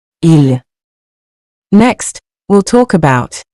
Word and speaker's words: ils: Remember, in spoken French, the S is usually silent unless followed by a vowel.